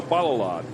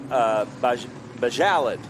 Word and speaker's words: Bajalad: Graham Adelman and Joe Balalad. So I've just heard. So Joe Serban told me it's Joe Bajalad, like salad. Bajalad. Okay. Bajalad. Okay, so we've been saying it wrong.